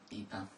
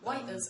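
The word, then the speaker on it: Ypres: Eepa. Or Wipers, as it was to the soldiers.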